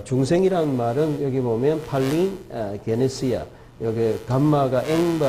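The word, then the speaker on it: παλιγγενεσία: 단어는 루트론이란는 말이고 어 중생이란 말은 여기 보면 팔린 게네시아 여기 감마가 앵발 발음이 나기 때문에 두 개 합할 때는 팔링 게네시아 게네시아는 제네시스 우리가 창세기 태어남 이런 거고 팔리는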